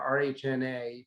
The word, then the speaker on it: RHNA: And then this, just make sure everyone knows this number we're talking about, RHNA, R-H-N-A, pronounced RHNA, is the target number of homes that each community has to make sure they have enough land zoned for.